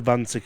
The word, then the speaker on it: Vanzek: And yes, he's German, so Vanzek is correct.